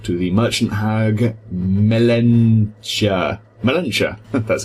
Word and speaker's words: Melentia: Melentia.